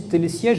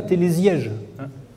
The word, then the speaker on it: télésièges: cousin le télésiège et je précise que même si le s est entouré de deux voyelles il faut bien prononcer télésièges et non pas télésièges c'est le cas des composants donc on était au